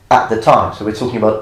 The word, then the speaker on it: Scipio: But as far as classical Latin pronunciation is concerned, we understand that it's most likely the way how Romans pronounced things at the time.